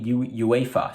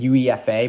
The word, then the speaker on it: UEFA: release we have merlin uefa so hey someone my chat uh helped me out with pronouncing i was saying uefa but it's uefa so there you go